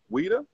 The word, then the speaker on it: Ouidah: you were in where weda WEA in Ben in Ben not pronounced Judah not pronounced Judah nobody pronounce it Judah